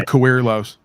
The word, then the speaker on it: Coerlos: Coerlos is here. Accent on the Coerlos. Accent on the Coer.